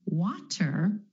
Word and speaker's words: water: to the flap te the flap flap T is really just a D sound and this flap T happens when T is in the middle of words in between two vowel sounds so for example take